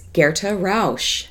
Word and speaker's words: Gerta Rausch: is our heroine in what the night sings guerre - Roush so that's how you say her name Gerta